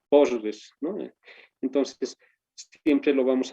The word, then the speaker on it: PostgreSQL: Bien, entonces así es como de manera inicial se va trabajando en postgres posq o postgre SQL, así también se pronuncia, no hay ningún problema, ¿no? Pero posgrés por su nombre antigüito, posgrés, ¿no?